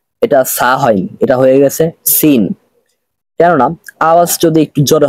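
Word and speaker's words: س: দেখাচ্ছি সাটা হলো সা আর সিনের উচ্চারণ কিভাবে করে একটু মনোযোগ সহকারে শুনুন সিন সিন সিন আওয়াজটা একটু জোরে হচ্ছে চিকন হচ্ছে আর সদ এটা মোটা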